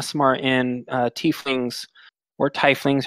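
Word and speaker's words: tiefling: in teeth wings or tie flings whoever you want to pronounce it all just pronounce it teeth lean in Mystica you know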